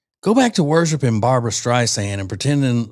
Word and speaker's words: Streisand: She may have pronounced it Streisand though, which I hate. Streisand instead of Streisand.